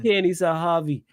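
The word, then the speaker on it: Pini Zahavi: Peony Sahavi, as well as indicating a willingness to lower his salary demands in order to help facilitate a move to Barcelona.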